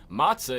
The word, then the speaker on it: matzah: Oh yeah, the matzah. Matzah, yeah. Remember we lived off that shit at the He Lecter did house? matzah with you. Yeah. Fun fact for anybody living in extreme poverty: matzah is extremely cheap, and Just it grab will-